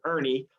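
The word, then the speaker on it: Erne: point out is that the shot e are in E is how it's spelled Ernie and you might hear some people say urban or Ernie with ie but the truth is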